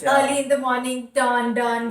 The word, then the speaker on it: Dawn: So that was the, instead of Down, Down, it was Dawn, Dawn, because that is how his name is spelled, D-A-W-N.